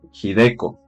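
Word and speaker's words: Hideko: Dos, jideco se pronuncia.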